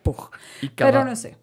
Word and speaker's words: Puig: arquitecto modernista josep p yo dije puig pero se escribe Pues a mí me dijeron que se sía pug cada falch Ajá para